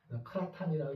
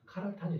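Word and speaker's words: σαβαχθανι: 그래서 크라타니, 케라타니, 카라타니 막 그럽니다. 크라타니라고 읽어도 되고 케라타니 읽어도 괜찮고 카라타니 읽어도 괜찮은데 보통 많은 사람들은 케라타니라고 읽습니다.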